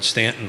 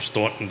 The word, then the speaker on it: Staunton: race tomorrow up in Stanton or Staunton depending on how you say it uh to help raise